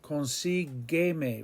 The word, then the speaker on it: consígueme: And we have to have a U after the G to get that hard G sound. Consigue me. Remember, in a G in front of an I or an E is pronounced he or hey. But we need the gay sound, so that's why the U is inserted.